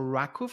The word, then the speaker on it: RWKV: that Transformers do so one of them is called rakov I think our rwkv and it's supposed to be pronounced rakov I don't know why